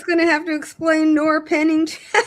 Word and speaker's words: Noerr-Pennington: had something to do with this like Nor Nor Pennington doctrine. Did I pronounce that right?